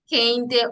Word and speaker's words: Kehinde: Well, you did try with the pronunciation, but it's pronounced Kehinde Olarinju.